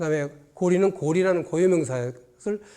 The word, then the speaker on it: 고려: 갖다가 아침이 빛날 마찬가지로 고리 라는 것도 나라 이름으로 평성 으로 읽어야 되는 고리 라고 읽어야 되는데 만일 고려 라고 하면 아름답다는 뜻이래요 그리고 수려 가 되요 아 강사의 수려하다 할